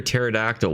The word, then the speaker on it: pterodactyl: Why can't you hear a pterodactyl when it goes to the bathroom? Because the P is silent.